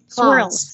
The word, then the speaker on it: swirls: s H clouds H swirls say it again swirls pronounce the letter s swirls swirls very good